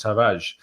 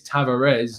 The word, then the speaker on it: Tavares: from his own pronunciation you don't pronounce the r uh very you know it's not like a hard r and so it's just taraj um from from all